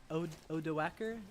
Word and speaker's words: Odoacer: by the Germanic general named, how do you pronounce that? Odoacer. Odoacer.